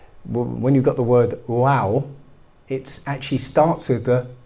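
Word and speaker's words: waw: Okay, there's this character called you pronounce it wow.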